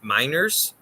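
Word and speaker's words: Meinerz: like I'm just gonna ATT this Quinn M miners nailed it nailed it Nick okay perfect um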